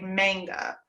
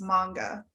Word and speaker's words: manga: really long time, because I think in English, it sounds more natural to us to say manga, because it's like mango. So it's like, to us, we want to hit that A a little bit harder. Mm-hmm. But yeah, in Japanese, the A is a little bit softer, so it's manga.